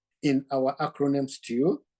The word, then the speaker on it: STEW: So join us to discuss the letter E in our acronym STEW, that abbreviation that we pronounce as if it was a word.